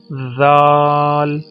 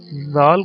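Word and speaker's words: ذال: इसी तरह हमने जाल को भी प्रोनाउंस करना है, लेकिन इसकी साउंड एस के साथ स्टार्ट नहीं होती, बल्कि जी के साथ स्टार्ट होती है।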